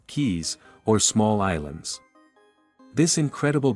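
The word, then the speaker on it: cayes: The reef system includes three of the four coral atalss in the Caribbean in dozens of K's pronounced keys or small islands.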